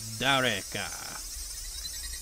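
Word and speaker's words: 誰か: Someone... is pronounced Dareka. Dareka. Dareka.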